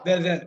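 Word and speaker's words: whether: ஒரே மாதிரி தான் படிக்கணும் அடுத்தது பாருங்க வெதர் வெதர் இந்த ஹெச் சைலென்ட் தான் இப்படித்தான் படிக்கணும் w டிச் இ ஆர்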